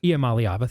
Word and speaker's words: Iamaleava: quarterback, with Nico there, and I still can't pronounce the last name. Iamaleava, is that how? Iamaleava, thank you.